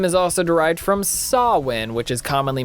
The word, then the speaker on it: Samhain: the rules whose name is also derived from sawwin which is commonly mispronounced as Samhain so in A Christmas Carol Ebenezer encounters the